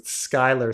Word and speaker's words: Schuyler: No, the thing is Skylar spelled Schuyler. That's how my son's name is spelled, Skylar.